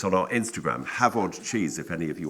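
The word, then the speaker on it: Hafod: It's on our Instagram, Havod Cheese, if any of you want to follow us on Instagram. H-A-F-O-D, F is pronounced V in Welsh.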